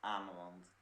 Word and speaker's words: Ameland: Is that how you pronounce it? I don't know. Yeah, Ameland.